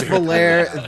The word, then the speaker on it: Valere: One of you got made fun of for Definitely pronouncing Valerie. it that way, right? Yeah. Jim, I'm with you. It's Valere.